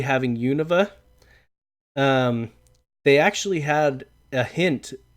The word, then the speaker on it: Unova: It's Unova. I've always heard people say Unova, but Unova.